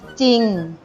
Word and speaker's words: จริง: เท่า นั้น ต่อ ไป คำ ว่า จริง หน้า จอ รอ อีก 1 ออ จริง เรา อ่าน ไว้ จริง แต่ สังเกต ดู ว่า โจ จาน แล้ว หรอ เรือ เป็น พยัญชนะ ควบ กล้ำ แต่ เรา ออก เสียง แค่ เพียง จอ จาน ตัว เดียว คำ ต่อ ไป คือ